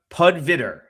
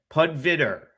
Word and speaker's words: Pudviter: All right, I'm going to pronounce your name correctly today. Uh Adam Pudviter. Pudviter.